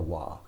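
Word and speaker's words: は: konichiwa with a wa even though it's pronounced with a wah this particle wah is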